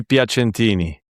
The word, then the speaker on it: Piacentini: Joani was how to how should I pronounce your surname? Joani Pentini.